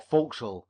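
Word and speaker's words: forecastle: secret, is soon known in the forastle, or folks, as the sailors pronounce it.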